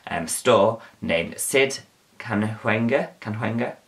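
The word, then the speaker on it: Cahuenga: store named sid canewenga can hunger and that's how you say it um kanhunga's one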